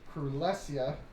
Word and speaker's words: Krulesia: Krulesia, exactly how it sounds.